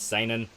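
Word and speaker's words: seinen: care it's signing like you're signing in yeah exactly but uh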